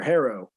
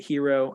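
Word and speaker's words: Herro: have jimmy butler tyler harrow um i'm pretty sure it's harrow it's hero is it hero i'ma say hero he played at kentucky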